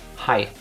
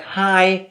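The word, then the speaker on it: Hai: just individual words like shark in German it's hi hi not like high but High h a i same in Dutch but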